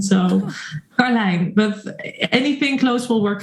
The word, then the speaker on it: Karlijn: In the Netherlands, we would say Karlijn. Oh. But the IJ sound is something very native to the Dutch language. No other language in the world, as far as I know, is used to it. So I've seen at least 20 variations of spelling and even more of pronunciation.